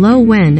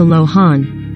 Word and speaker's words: Lohan: said in the video she pronounced her last name lo wen as opposed to lohan leading some users to